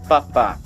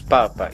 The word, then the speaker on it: Papa: fim da sua matrícula mas a pronúncia de cada vez vai ser diferente na prática nós falaríamos papa tango jardim november papá ou seja no primeiro penas falaríamos papa e no último apenas falaríamos papá isso ocorre simplesmente por uma